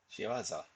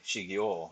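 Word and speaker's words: 仕業: Shiwaza. Okay. So I would have been pronouncing. I was thinking it was like Shigyo instead of Shiwaza.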